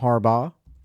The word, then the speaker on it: Harbaugh: Um, Jay and Jim Harbaugh.